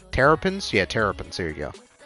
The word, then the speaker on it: Terrapins: I don't even know how to pronounce that. Their team name. Trepins? Terrapins? Yeah, Terrapins.